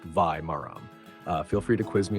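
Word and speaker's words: வாழை மரம்: In Tamil, a banana plant is called var maram, pronounced vai maram.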